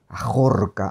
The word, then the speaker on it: ajorca: Qué es una ajorca claro ajorca aj es una jorca es una palabra viene jorca hay que pronunciarla de esa manera tiene el monte el